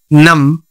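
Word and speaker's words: numb: not tube L ಐಎಂಬಿ ಲಿಮ್ ಲಿಮ್ ನಾಟ್ ಲಿಂಬುಎಂಬಿ ನಮ ನಮ ನಾಟ್ ನಂಬ ಸಿಎಲ್ IMB climb climb not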